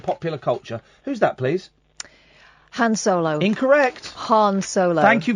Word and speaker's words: Han Solo: Han Solo.